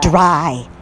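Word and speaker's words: Drey: Dry.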